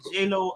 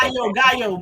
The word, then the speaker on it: Gaillot: Tell us what that is and what that looks like in the JLo administration. Okay, Gaillot, but that's Gaillot.